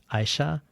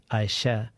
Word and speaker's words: Ayşe: have the same name I said Aisha and she said AA she corrected my pronunciation of my own name that is the Immigrant